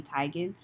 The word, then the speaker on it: Teigen: Teigen was on there her name is apparently not Chrissy Teigen it's Chrissy Teigen but I don't like